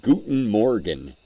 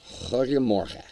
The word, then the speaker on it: Goedemorgen: I know, you wouldn't think it's pronounced that way. I would pronounce that Guten Morgen. It's Goedemorgen. Oh, Robbie's playing guitar.